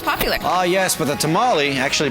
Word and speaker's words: tamal: be the most popular oh yes with a tamale actually pronounced thermal is the most loved we're at a restaurant